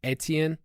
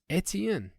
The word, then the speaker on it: Etienne: I also see a lot of people that get mad when we say ETN instead of Etienne.